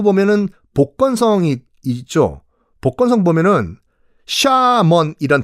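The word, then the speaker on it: 厦门: 보건성이 있죠 복건성 보면은 샤먼이란 도시가 있을 거예요 우리 발음은 하문이고요 거기 앞바다에 조금만 섬이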